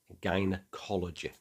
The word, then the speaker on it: gynecology: from Greek, and it's a known exception. It's hard, guy, and the second G. This time, the Y makes it soft. So it's ology. The study of something is ology, and is always a soft G. So the result is gynecology.